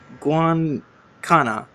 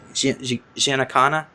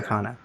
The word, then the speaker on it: Giancana: Sicilian-American mobster Sam Guancana. Hopefully I said that. Do you know who that is? Sam Giancana? Yeah. Giancana. Just to make sure I say it right.